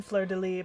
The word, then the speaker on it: Fleur-de-Lis: I do know that the S is silent in Fleur-de-Lis, but sometimes you just read something and your brain just auto-processes the whole sound.